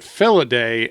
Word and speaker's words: Felidae: So apparently you pronounce it Felidae, and it's a family of cats.